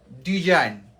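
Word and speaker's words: design: Will be music next ডিজাইন okay D এস আই জি এন এই দেখ ই একটা vowel I একটা vowel okay so এটা এটা উচ্চারণটা হবে কি? ডিজাইন।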